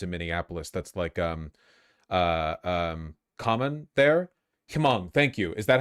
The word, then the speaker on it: Hmong: Don't pronounce the H, just Hmong?